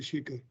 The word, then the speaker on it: Sekar: don't use h but we call it as a we spell it as a without h but pronouns with h so all my friends uh who who are from abroad if they struggle to pronounce my name i ask them to remember the milkshake so that's a shake the shaker so thanks uh thanks